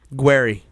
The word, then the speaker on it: Guererri: nights he says guerry is it guerry or gueri guerry that is the proper pronunciation okay I like it